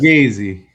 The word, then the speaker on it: Fugazi: Fugazi.